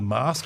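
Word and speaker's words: Masque: They played their first concert at the the mask. I think that's how you say it properly.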